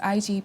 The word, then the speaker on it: Igbo: would be EO tribe that's my tribe it's pronounced Igbo EO tribe that's the eura tribe most afrob